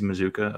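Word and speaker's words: Mazzccua: Micah Mazuka. Yep. It is Mizuka.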